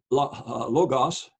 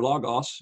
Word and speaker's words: logos: matter is that uh the word logos or logos depending on whether you want to pronounce it as a short or long o uh the Jews or